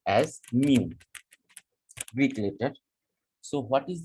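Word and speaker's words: μ: mu, that is pronounced as mu, Greek letter।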